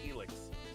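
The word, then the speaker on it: Ilex: a chance no worries how do you pronounce it isix or elix Forest I say elix elix it's probably right good old elix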